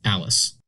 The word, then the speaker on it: ALISS: For example, the spelling of the Alice departure is pronounced Alice.